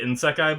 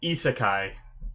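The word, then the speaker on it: isekai: a sec I think I was calling it in sekai before I think is ISA ISA Kai is how you say it sorry if I butchered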